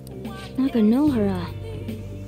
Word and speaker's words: Nakanohara: Oh, so I pronounced his name wrong again, so apologies for that. This tends to be a habit. Nakanohara.